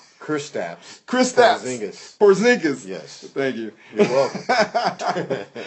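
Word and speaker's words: Porziņģis: of yours he a great commentator Christian poris from the Knicks did I say his name right christs Chris poring porzingis yes thank you you're welcome Chris porzingis yes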